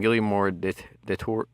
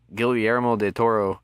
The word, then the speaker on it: Guillermo del Toro: director of pacific rim gilliam moore did the tour am i pronouncing that right go guillermo del toro um was interested in